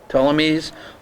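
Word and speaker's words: Ptolemies: Telmies tamese or um uh selicids salucids.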